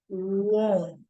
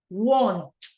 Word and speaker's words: won't: It's quite different, and you will have to say it like won't. Right? That is the sound right here. Want, won't. There is a slightly different. Want, won't. Okay, so let's listen.